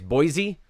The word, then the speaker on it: Boise: but us cities is pronounced with a z sound by outsiders and s sound by locals i guess boise but tracy well done